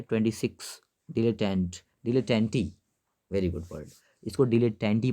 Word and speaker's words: dilettante: और इसका प्रोनाउंसिएशन होगा डिलेटेंटी, नॉट डिलेटेंट ना, इसका प्रोनाउंसिएशन जो होगा वो होगा डिलेटेंटी।